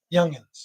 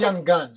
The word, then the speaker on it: youngins: Youngins. Youngins. Yeah. Not an I. It's a U. Yeah, it's youngins. Yeah. Okay. It's you pronounce not young guns. It's youngins.